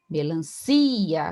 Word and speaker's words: melancia: Melancia, a sílaba tônica é si, né? Paroxítona terminada em A, não é acentuado, não é, né? Não é melancia.